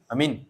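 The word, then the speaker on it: آمين: aman ne ad J amin amin amin aman aman aman atau Amin itu is dipercaya is dipercaya is dipercaya mestinya bacanya Amin bacanya Anya panjang minnya panjang fadilahnya Imam jika Imam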